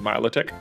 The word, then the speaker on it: Milotic: mythos the uh milotic how's that for a different pronunciation i think that's the correct one milotic um that was like melodic melodic milot obviously uh and let's just